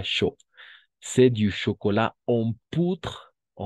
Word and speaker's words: poudre: C'est du chocolat en poutre, o U, siempre va a ser U para nosotros. Entonces aquí sería poutre, d'accord? Poutre, hasta la D, hasta la R, porque la E no se pronuncia.